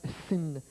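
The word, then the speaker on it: שׂ: Aussitôt que le point est envoyé à gauche, le H disparaît et se prononce Sin, soit mot avec lequel les Anglais ont fait le mal, le péché.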